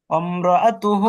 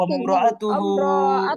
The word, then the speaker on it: امرأته: امرأته امرأته এই যে রটাকে আলাদা করে বলতেছেন, আলাদা না করে দেখেন আমি কিভাবে বলছি, একটু খেয়াল করেন। অম্রাআতুহু, অম্রাআতুহু, অম্রাআতুহু। امرأته হ্যাঁ হ্যাঁ, এরকম।